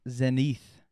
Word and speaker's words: zenith: Zenith.